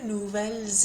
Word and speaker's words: nouvelles: However, if there's a vowel that comes at the start of the next word, then that S does get pronounced, although it gets pronounced kind of like a Z again.